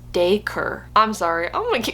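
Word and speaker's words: Dacre: a c r e I was saying Dai but it says it's pronounced daker I'm sorry I'm going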